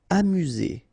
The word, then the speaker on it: amusé: Amusé, okay, accent aigu at the end, so E, Z, amusé.